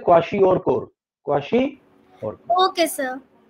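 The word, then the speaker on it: kwashiorkor: नो, इट वाज not meant for हिम, इट was meant for काशी और core. Okay, Akshita, इस word का pronunciation होता है क्वाशी और कोर.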